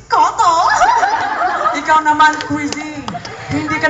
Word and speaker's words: Cotto: Sa ating unang chika, Manny Pacquiao, pinaiyak nga ba si Cotto? Nakakatawa naman ata lahat ng mga chika mo, Quizzy. Kuto, masasabi ko lang sa'yo. Boy, it's not Kuto, it's Cotto.